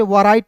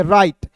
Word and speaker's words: write: उसके बाद उसी प्रकार देखिए यहाँ पे WRITE, तो इसे वराइट नहीं पढ़ेंगे, इसे पढ़ेंगे राइट। W इसमें साइलेंट होता है दोस्तों, और RITE को पढ़ते हैं राइट।